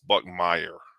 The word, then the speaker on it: Buckmeyer: And I messed up the quarterback's name. It's Buckmeyer.